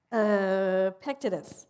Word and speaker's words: Epictetus: I cannot pronounce his name. Epictetus, that's it.